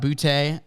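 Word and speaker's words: Boutte: my number six Keyshawn boote LSU number seven it's pronounced Booty by the way booty uh Jalen Hyatt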